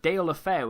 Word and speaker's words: Deulofeu: in Spain, we have Deulofeu. And if you think I'm mispronouncing that, that is taken straight from a Spanish man's mouth.